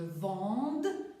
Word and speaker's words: vende: ça va être inverse on va prononcer ce dès pourquoi parce que on va avoir le qui va provoquer la faute de la prononciation dis donc il faut que je vende que tu vendes qu'ils